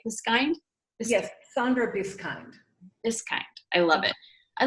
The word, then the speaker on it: Biskind: Yes, Sandra Biskind.